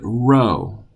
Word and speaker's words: rho: a P that is the Greek letter Rho which is the R sound that's the capital on the left write it like this and the lowercase comes from under the line like that Rho Rho naught P but Rho Rho the next letter is